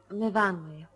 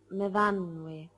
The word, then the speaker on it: Myfanwy: No, Myfanwy. We pronounce it Myfanwy.